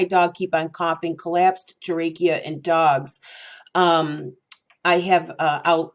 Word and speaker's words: trachea: The fourth common reason why a dog might be coughing is collapsed trachea. This is something, I'm sorry, I pronounced that wrong. Collapsed trachea.